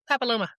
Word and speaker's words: papilloma: test, and that's human papillo how do you pronounce it? Papilloma.